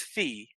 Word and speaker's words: Phi: is Phi now now in my world Phi is fee it's pronounced fee it's also known as